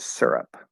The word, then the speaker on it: syrup: do you prefer okay the first syllable rhymes with the word sir and what is your